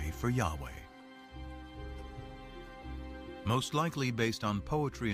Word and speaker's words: Yahweh: According to one account, Abraham knew God by his intimate personal name, conventionally pronounced Yahweh.